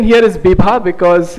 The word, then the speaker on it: Bibha: So Bibha is actually, in Sanskrit, it would be called Vibha, which means very bright and sparkling. But the pronunciation here is Bibha because it's also a